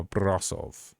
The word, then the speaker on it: Brașov: How to pronounce a Brașov?